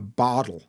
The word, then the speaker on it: bottle: use the D a bottle a bottle of water um a botle of water is kind of I don't know sounds a bit Irish when I say it